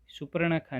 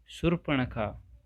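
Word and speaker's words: शूर्पणखा: हो सुपर्णखा सुरपणखा है सुपर्णखा नहीं है ये देखो जैसे मैंने गलत पढ़ा है पहले पहली बार जब पढ़ा था तो सुपर्णखा ही बोलते हैं इसको ज्यादातर जो कि सही नहीं है सही इसका प्रोनाउंसिएशन जो है वह है सुरपणखा नेक्स्ट है 16 वर्ष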